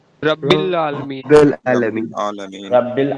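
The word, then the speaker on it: العالمين: अब देखो यहाँ आलमीन को कैसे पढ़ेंगे? जबर उसके बाद अलिफ, तो थोड़ा सा खींचेंगे, है ना? आलमीन। ठीक है। और यहां देखो मीम उसके बाद या, मीम उसके बाद या साकिन, उससे पहले जेर, या उससे पहले जेर। तो हमने कहा या हो उससे पहले जेर हो तो वो भी खींचेगा, इसलिए इसको भी कैसे पढ़ेंगे? मीना, आलमीना। ठीक है, समझ आया?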